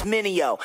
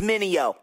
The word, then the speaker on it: Mineo: Try to say my name, it's Minio. Say it with me, Minio.